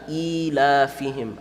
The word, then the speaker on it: إِيلَافِهِمْ: This is going to be full mouth. So Qurayshin ila, not ila, ilafihim.